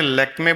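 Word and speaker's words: Lakmé: तो उसमें लेकमे बोलते हैं लक्ष्मी को। वह स्पेलिंग एल ए के एम ई है। उसमें वह लक्ष्मी है उनके हिसाब से। बट उन्होंने वो लेक लेक हमने सबने लेक लेक शुरू कर दिया।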